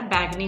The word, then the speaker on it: बैगनी: Sorry, बैजनी नहीं होता है, बैगनी होता है।